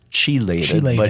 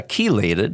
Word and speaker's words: chelated: CH yeah c-h-le-a yeah it kind of looks like it would be pronounced chiliated yeah chelated is is the pronunciation